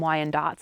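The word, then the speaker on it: Wyandotte: Number 10 on our list are Y and dots. Some people call them Y and dots as well.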